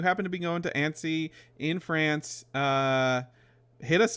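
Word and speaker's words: Annecy: really good uh they will be at the ansy animation film festival in France right understand it's pronounced ansy an French may I don't speak any French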